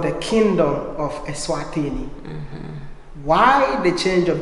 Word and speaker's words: Eswatini: Because for us, it's we call it Eswatini. But because we're being colonized by the British, they couldn't really pronounce very well Swazi and Aswati.